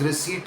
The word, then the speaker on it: receipt: Practice it a few times. Receipt, receipt, receipt. letting that silent P disappear completely.